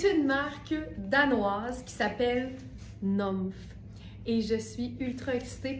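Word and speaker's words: Nümph: Ça s'écrit N U M P H mais c'est ça. Mais il y a un tr sur le U fait que c'est NF fait que c'est la marque Nomf.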